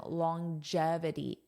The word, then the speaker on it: longevity: The study of living longer is referred to as longevity. Notice the pronunciation, longevity. So coffee may support living longer, longevity.